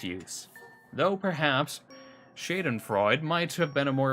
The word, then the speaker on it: Schadenfreude: Though perhaps Schadenfreude might have been a more appropriate term to use in this instance.